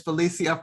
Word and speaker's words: Phylicia: of Educate You is Phylicia French. And before I go one step further, I will let everybody know that I am pronouncing her name in the Spanish way.